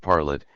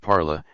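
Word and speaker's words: parlât: I was struck with the word parlet, and found a t was necessary to form the third person of the subjunctive, whereas I had always written and pronounced it parla, as in the present of the indicative.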